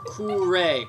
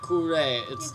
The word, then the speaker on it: Kure: No, Kure, Kure. It's pronounced like it's a Japanese word because we're in Japan.